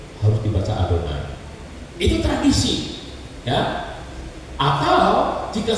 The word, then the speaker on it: Adonai: Yod he Fa He ini tidak boleh dibaca kalau ktemu dengan huruf ini harus dibacanya adonai jadi lihat ini harus dibaca Ini kan bingung Jadi kalau ketemu Yod he faw he harus dibaca adonai ya begitu sedang Baca